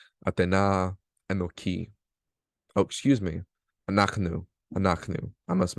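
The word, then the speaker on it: אנחנו: Anaknu. I must mispronounce that.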